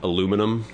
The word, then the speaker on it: aluminum: say kernel there's also the uh aluminum british people say aluminium because we cut out a syllable it should be aluminium